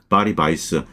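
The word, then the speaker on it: Weiss: 그리고 바리바이스 뭐 바이스가 이게 이제 독일식 발음인데 어쨌든 이렇게 그 본인이 원하는 대로 불러 줘야 됩니다.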